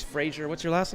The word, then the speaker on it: Fraser: And so it's Fraser. What's your last name? Simpson. Is it Fraser or Fraser? Fraser. Fraser. All right. Scottish pronunciation.